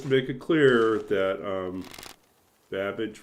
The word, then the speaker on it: Babbage: Yeah, it's just to make it clear that Babbage rhymes with cabbage.